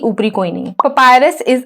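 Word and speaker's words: papyrus: Point number 1 इज कि हिंदी में लिखा हुआ है पॉपिरस, तो यार इसका जो एग्जैक्ट प्रोनाउंसिएशन है वो है पपायरस, ठीक है।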